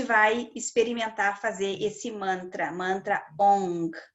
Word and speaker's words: Ong: Aí a gente vai experimentar fazer esse mantra ONG. A gente não pronuncia o G, é só para mostrar o movimento que a língua faz.